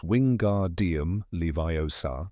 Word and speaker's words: wingardium leviosa: It's wingardium leviosa. Make the gar nice and long leads Ron to mock her.